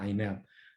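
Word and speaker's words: INAD: Kita bacanya INAT.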